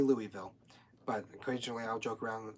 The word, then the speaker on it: Louisville: to Kentucky Brown puts the headquarters in Louisville as the locals say I was born here but I don't say I say Louisville but occasionally I'll joke